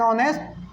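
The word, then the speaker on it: honest: तो अब ये तो फेमस एग्जांपल है, एन ऑनेस्ट person, an ऑनेस्ट person, अब एन लगा है, ऑनेस्ट है, एच से शुरू हुआ लेकिन प्रोनाउंसिएशन ओ से निकल रहा है तो एन लगा दिए।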